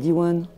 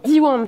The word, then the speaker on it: Diwan: Et comment est-ce que vous êtes devenu professeur à l'école One ? Euh, est-ce que je le prononce bien déjà ? Dwan plutôt. Plutôt, ouais.